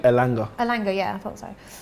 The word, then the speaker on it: Elanga: Elanga.